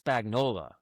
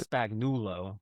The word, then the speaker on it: Spagnola: It's Spagnola, not Spagnulo or something.